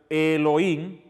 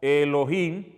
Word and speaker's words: Elohim: suena Así mismo suena Elohim esto como si fuera una una l entonces aquí le pusieron la e así e arriba suena como Elohim Elohim suena suena así Elohim suena Elohim para que